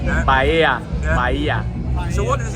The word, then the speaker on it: Bahia: pronunciation right now. Bahia, Yeah.